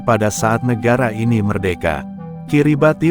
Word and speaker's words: Kiribati: Kiribati merupakan lafal pengucapan orang lokal dari kata Gilberts.